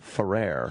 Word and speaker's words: Ferrer: your last name I say for our furrier Ferrer gotta pronounce that right now it's Jose Ferrer yeah